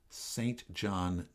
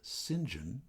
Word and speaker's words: St John: Music Circus was named not St John Terrell but rather singen Terell singen Terell he said it the